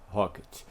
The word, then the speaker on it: rkt: ocorre seus rocket né rkt pronuncia rocket que é uma tecnologia